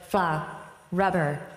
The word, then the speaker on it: Frubber: really pliable foam rubber called frubber pronounced like FL Rubber and I guess that's short for face rubber or flush rubber maybe or um fancy rubber maybe I don't know but then I've also